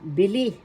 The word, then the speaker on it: bili: Now, let's have the pandiwa bili. Bili. First syllable B, second syllable li. The accent is in the second syllable bili.